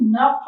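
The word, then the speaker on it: knock: Spelling कशाने सुरू होत आपली स्पेलिंग आहे के स्टार्ट होत बघा के स्टार्ट होत कनक म्हणतो का आपण नाही तर इथे सायलेंट काय मुलांनो के आहे स्पेलिंग नक पासून चालू होते तर के काय आहे इथे हे सायलेंट आहे तर काय येईल?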